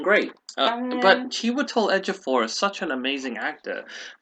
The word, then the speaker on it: Ejiofor: Egyptian master How do you assassin or pronounce his name something. again, please? Sorry, Han. Chiwetel Ejiofor. Stuartle. Ejiofor.